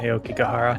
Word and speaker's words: Aokigahara: Is that how you pronounce it? Yeah, Aokigahara.